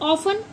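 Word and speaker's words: often: और ऑफन ओ एफ टी ई एन T silent रहेगा। ऑफन बोलते हैं इसको।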